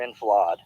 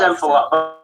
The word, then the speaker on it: enfilade: I know that word is kind Is it enfilading or enfilade? it's ENFIDALING, enfilading. I believe the pronunciation is enfilade.